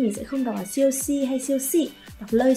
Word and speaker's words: 休息: Chiêu thiên, 秋天全套全套白酒白酒休息休息 Thì nhớ là cái từ si cuối cùng này nó mang thanh nhẹ nên mình sẽ không đọc là siêu si hay siêu si.